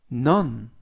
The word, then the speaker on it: none: 안녕하십니까 여러분 첫 번째 표현은 넘 넌 넌이라고 발음하시면 되겠구요 품사는 대명사 뜻은 아무도